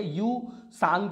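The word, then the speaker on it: Ü-Tsang: उसमें कौन कौन से, यू सांग जो है आपका टी साइलेंट है, धोटो एंड धूमी,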